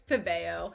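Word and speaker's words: Pébéo: could get it done pabeo hibeo pbo it's pabeo because it's french hit or pep i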